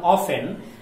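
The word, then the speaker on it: often: এই লাইনটা থেকে দুইটা ওয়ার্ড বেশি ইম্পর্টেন্ট, একটা হচ্ছে ওফেন, ও এফ টি এন, উচ্চারণটা অফেন, আর একটা হচ্ছে পার্টি,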